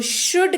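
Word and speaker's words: should: reach बढ़ते हैं आगे अगला शब्द है शुद्ध एस ह ओ यू एल दी इसको शुड के तौर पर पढ़ते हैं और इसका अर्थ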